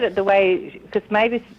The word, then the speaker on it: Mavis: You said it right because you said it the way because Mavis, the name comes from the bird Marvis, like you said, and Marvis is the songbird of spring, and John Keats wrote poetry about.